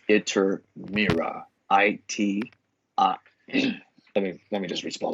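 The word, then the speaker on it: Iturmera: Ishkur was later pronounced Iter-Mira.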